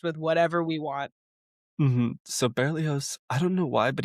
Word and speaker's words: Berlioz: that's in my schooling how everyone that's the Americanized pronunciation. I'm sure there's a French version that has somehow more syllables or hmm maybe suddenly less. Or That's another thing yeah, that happens. sometimes there's less consonants. Like it could be Berlos. it could just be Berlos.